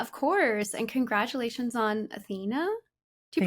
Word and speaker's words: Athena: And congratulations on Athena. Do you Thank pronounce it you. Athena or Athena? Athena.